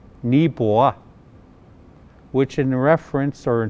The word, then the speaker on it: Neepawa: Proper pronunciation, Neepawa, which in reference or in translation basically means there's a lot of something, i.e.